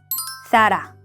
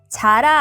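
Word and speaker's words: Zara: 마지막 세다. 사라. 자라 아니고요. 사라입니다.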